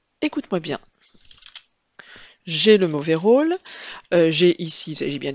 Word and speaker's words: rôle: Le mauvais rôle, attention, la seule difficulté est l'accent circonflexe sur le O de rôle, qui permet au O de se prononcer de manière un petit peu plus grave.